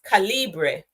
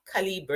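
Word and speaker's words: Calibre: and then there is calibra now or are you or k yeah I think it's caliber it's pronounced this one can give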